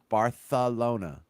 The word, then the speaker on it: Barcelona: Yiddish or or French it's bartholona it's just the th instead of a c Barcelona what are you doing